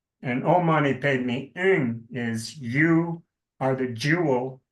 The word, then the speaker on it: Om Mani Padme Hum: Om Mani Padme Hum, which is to be pronounced Om Mani Padme Ing, H-U-N-G, as the sound. And Om Mani Padme Ing is you are the jewel in the lotus.